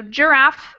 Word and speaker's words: giraffe: be a better example so giraffe is spelled with ag but is makes the same sound as the j f as in fat